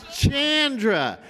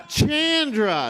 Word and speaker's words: Chandra: I've been saying her name wrong for like 15 years now. It's Chandra. No, it's Chandra. Chandra.